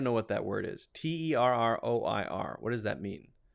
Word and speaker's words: terroir: to look that up t-e-r-r-o-i-r what does that mean a complete natural environment in which a particular wine is produced oh specifically about wine pronounced how terroir okay terroir okay learn something new every